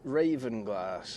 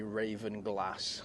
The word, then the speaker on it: Ravenglass: I'm currently in Ravenglass, or it would be Ravenglass, I think, the way to pronounce it properly for north.